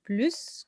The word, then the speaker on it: plus: on va comparer débarquent ils étudient plus que son frère on va prononcer le s ils étudient plus que